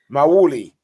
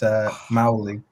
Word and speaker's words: Mawuli: Mawuli is here. Oh, yeah. Right. No, he said it wrong. Oh, no. Nah, he said it wrong. I'm sorry, KJ. It's Mawuli.